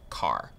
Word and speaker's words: char: Chars. So chars are used for variables that will store single characters. Char is short for character, and sometimes you might hear people pronounce it as car.